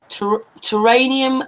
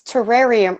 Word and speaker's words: terrarium: Karlee's going to be doing her own theory on terranium Earth. Is that it? Is that how you say it? It's a theory. It's terrarium Earth. Like you can build a terrarium.